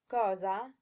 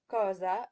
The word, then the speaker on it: cosa: be pronouncing with schwas, cosa and amor. English speakers will tend to say cosa instead of cosa and amor instead of amor.